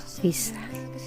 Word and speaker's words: Fis: cat atau tanda pagar Ini dibaca dengan akhiran is Jadi kalau F diberi tanda pagar berarti membacanya adalah fish menandakan jadi F fresh